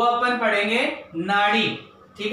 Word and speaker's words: नाडी: का, वो अपन पढ़ेंगे नाडी, ठीक है। वैसे तो एनएडी, लेकिन इसको प्रोनाउंस कैसे करते हैं, नाडी के रूप में प्रोनाउंस करते हैं।